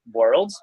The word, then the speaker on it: W3rlds: But actually, it's pronounced as like a world.